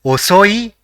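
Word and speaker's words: おそい: The first character in the word is O, the second is so, and the third is E. So it will be pronounced as osoi which means slow or late.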